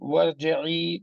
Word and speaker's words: وارجعي: وارجعي, I'm not pronouncing any Hamzatul Wasl.